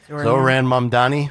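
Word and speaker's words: Zohran Mamdani: How do you say his name, Dawn? Yeah. Zoran Mamdani.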